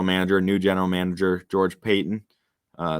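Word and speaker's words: Paton: new general manager george payton uh looks like patton but i believe it's pronounced payton um his first four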